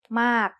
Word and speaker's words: มาก: It's the word มาก and it is said with a falling tone because of this rule.